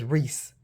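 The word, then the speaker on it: Rhys: on r r Rees RH Ys that I think that's Reese I was like RH Ys but that's I think how they pronounce it is Reese I like this what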